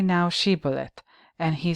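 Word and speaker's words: shibboleth: each suspected Survivor to say the word she bullet the ephraimite dialect resulted in a pronunciation that tugiliadite sounded like sibolet in Judges chapter 12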